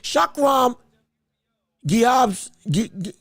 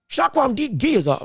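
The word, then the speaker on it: Shakhram Giyasov: Shakram Giyazov. That's what it is. Shakram Giyazov. My apologies for getting the name wrong. I'm going to get it right now, though. Shakram Giyazov, brother, that was something.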